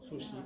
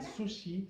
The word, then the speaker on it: sushi: de hecho va a ser sushi, o sushi, o realmente se dice, no con ch, como decimos nosotros. ¿Sabían eso? Que el sushi se pronuncia sushi.